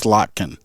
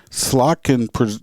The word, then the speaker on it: Slotkin: anyway her it's it's i'm gonna say it's slotkin s-l-o-t-k-i-n i don't know slot can presents a gun storage